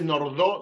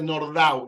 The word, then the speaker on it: Nordau: dice Max nordau no no se dice nordo se dice nordau era húngaro no era francés Okay esto lo dije